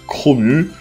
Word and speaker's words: Chrome: de la saison mais normalement on devrait dire chromeu ou alors regarde le